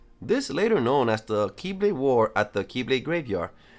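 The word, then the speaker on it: χ-blade: There was also Kingdom Hearts' counterpart, which was known as the Keyblade, which is spelled X-Blade for some reason.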